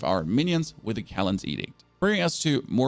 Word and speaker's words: Edict: And I think it's pronounced Callan's Edict, not Addict.